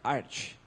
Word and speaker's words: Arch: E a pronúncia oficial é Arch, como Archer, de arqueiro, né? Não é Arc ou outra coisa do tipo.